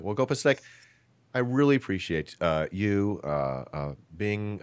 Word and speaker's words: GOPasteque: Is it GOPasteque? You're one of the rare ones using pronouncing it correctly. So, but I don't like to correct people. So GOPasteque is the right one.